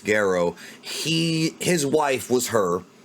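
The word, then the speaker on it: Gero: so basically dr guerrero known as giro in the dub but it's properly pronounced garrow he his wife was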